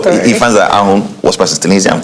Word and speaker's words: ahun: The English version says that, is it ahun? How do you pronounce A-H-U-N? Ahun, yes, a stingy person.